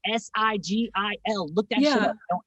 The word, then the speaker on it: Sigil: I was like Sigil.